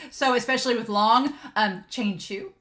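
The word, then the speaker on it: Qianqiu: especially with long um chain shoe as his name is supposed to be pronounced thank you I'll get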